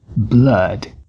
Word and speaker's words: blood: atenção para a palavra Blood que não se pronuncia com nenhum desses dois sons mas sim a Blood rimando com Mud vale a pena também